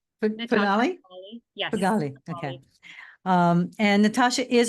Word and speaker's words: Feghali: to pronounce your last name so can you pronounce Pali yes Pali okay um and Natasha is a real estate